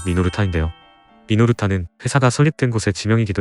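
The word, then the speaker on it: Minolta: 우선 우리가 흔히 미놀타라고 발음하는 회사의 일본식 발음은 미노르타인데요.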